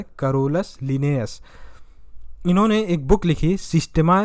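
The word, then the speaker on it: Carolus Linnaeus: कर लिया, कैरोलस लिनियस, सही उच्चारण है कैरोलस लिनियस।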